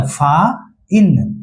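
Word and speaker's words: fine: अब आते हैं एफ आई एन फिन मछली का पंख होता है ना? अब अगर इसी में इ लग गया तो इ लगने के बाद जादू होगा। जादू होगा ना? तो आई अपना असली असली वाला रूप में आएगा। आई का असली रूप क्या है? आई ही है। बार-बार आई आई बोल रहे हैं। तो एफ आई एन ई क्या हो गया? फा इन क्या हो गया?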